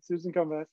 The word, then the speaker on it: Komives: Susan Komives.